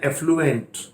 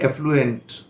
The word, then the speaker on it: affluent: इस पहले में ध्यान दीजिए, डबल F आया, AFFLUENT, और प्रोनाउंसिएशन है एफ्लुएंट. एंट नहीं है, एफ्लुएंट.